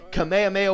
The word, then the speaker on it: Kamehameha: And before y'all come for my fucking throat, Kamehameha Wave is how it is actually pronounced in Dragon Ball, the original series, okay?